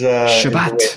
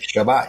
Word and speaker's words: Chebat: Chebat, that's the correct pronunciation. Is that decent at least? It's close. Chebat is... Chebat. Chebat, yes.